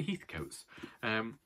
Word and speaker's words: Heathcote: And she's sending this to me because one of the families in this is the Heathcotes.